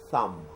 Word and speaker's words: thumb: is pronounced as what you put the tip of your tongue between your teeth and say what thumb pinky pinky great great